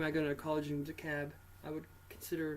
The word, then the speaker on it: DeKalb: DeKalb. DeKalb. Yeah. DeKalb, Illinois. Home of the second worst college in the United States, and that's a fact. So if you're thinking about going to college in DeKalb, I would consider not doing that.